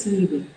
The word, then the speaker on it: сливы: вижу вопрос сок из Сливы сливы на первый слог ударение это как раз Вы